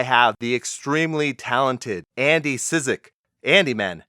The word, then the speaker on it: Cizek: right yeah yeah okay it's definitely not the easiest to sound out so syczyk syczyk is the way you say it okay I've gotten all